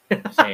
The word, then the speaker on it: Tintin: Oh, it still says Tintin. It says Tintin. Oh, but it says American pronunciation. Okay, let's do British pronunciation. Tintin.